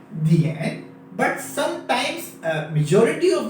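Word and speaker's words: 点: इसकी जो प्रोनाउंसिएशन है वो है दिएन दिएन दिएन।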